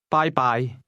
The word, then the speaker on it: 拜拜: Bye-bye. Bye-bye. Did you hear the high and mid-level tones in that word?